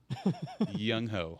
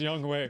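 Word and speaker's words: Younghoe: jason saunders four tyler bass three young hoku young hoe it really is pronounced young way by the way young i know it sounds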